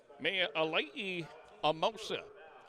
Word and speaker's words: Mea Alai Amosa: And the Polynesian, particularly the Hawaiian culture, You pronounce every vowel. So if you have a vowel string like the two A's, you go ah.